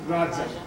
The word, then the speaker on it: Raja: And even in India today, like the word for king is Raja. Okay, Raja. And it's the correct pronunciation.